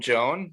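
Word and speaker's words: Jhoan: I call him Joan, but you can call him John.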